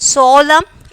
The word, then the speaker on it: solemn: And solemn, N silent letter.